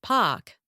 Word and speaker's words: park: The same thing happens when the R is followed by a consonant. Think of words like park, which becomes pak, or hard, which sounds like had.